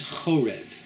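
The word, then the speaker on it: חורב: One of those names is Chorev, which can also be pronounced the same letters as Cherev, which in Hebrew means sword.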